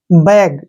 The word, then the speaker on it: bag: जब दो कॉन्सोनेंट के बीच में ए आता है तो उसका उच्चारण आई के रूप में करते हैं हम। जैसे BAG, बैग, ठीक है ना।